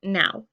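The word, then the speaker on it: Nau: have a German flag my last name is spelled n a youu and it's pronounced now um uh this is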